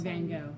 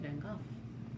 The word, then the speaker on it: Van Gogh: you live in because most people say van gogh but in doctor who they said van gogh and they're from england so that's how they say it that looks so cool